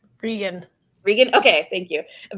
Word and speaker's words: Regan: Is it Regan or Reagan? Regan.